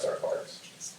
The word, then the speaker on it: kwargs: And that is how you say it, star kwargs.